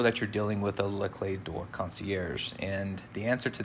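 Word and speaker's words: Les Clefs d'Or: me just say that I know I'm not pronouncing this the proper French way this is just my Texan way of trying to say this very funny looking word but I'm pronouncing it as Le clay door and what this means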